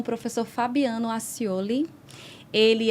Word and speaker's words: Aciole: e também é professor do Rhema, professor Fabiano Accioli, tá certa a pronúncia? Isso, Accioli. Accioli.